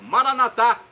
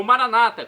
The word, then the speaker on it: Maranata: dialeto de Jesus aramaico maranat como dizemos nós católicos ou Maranata como dizem nossos irmãos separados os evangélicos ou protestantes não importa pronúncia o significado é o mesmo vinde Senhor Jesus vem